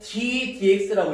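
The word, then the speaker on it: d/dx: 요 놈을, 자, 요거 d dx라고 읽죠.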